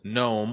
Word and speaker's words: GNOME: However, by default, it comes with Gnome or has many Linux vets would call it GNOME.